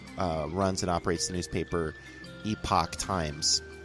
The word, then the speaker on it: Epoch: it operates the newspaper epoch times not epic times people always say it wrong epoch times is probably